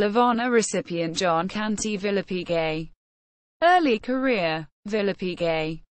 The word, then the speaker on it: Villepigue: War one Medal of Honor recipient John Canty Villa Piguet early career Villa Piguet pronounced Phil you H pig was born in Camden Kershaw County South Carolina